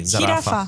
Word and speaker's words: jirafa: So with the J, we say ha, he, hi, ho, hu. So okay. it's jirafa. Jirafa. Is it like a sound? A bit. Jirafa.